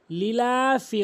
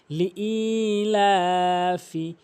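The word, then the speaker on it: لإيلاف: এখানে অধিকাংশ লোক ভুল করে লিলাফি কুরাইশ বলে। এখানে সঠিক উচ্চারণ হচ্ছে লি অবশ্যই হামজা ইয়াজের ই এক আলিফ টেনে উচ্চারণ করতে হবে।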